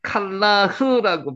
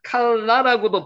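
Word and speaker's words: כלח: 레호버트 이르 갈라 요것도 실제론 칼라흐라고 발음을 합니다. 칼라고도 발음을 할 수도 있는데 흑가 아주 야금으로나 발음이 되는 거죠. 칼라 이렇게 되는 거죠.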